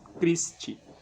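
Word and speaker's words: Christe: de NH ut promus crist então a gente finaliza aqui com algumas algumas sentenças da L Nossa Senhora né Por exemplo crist crist Elon então crist ch tem som de k e deixa eu ver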